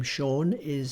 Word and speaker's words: Sean: and the Celtic languages, there is no s sound as in s. They all have a tinge of sh to them. You'll hear this when Sean Connery talks, and even the name Sean which is spelled S-E-A-N, or Seamus, which is S-E-A-M-U-S.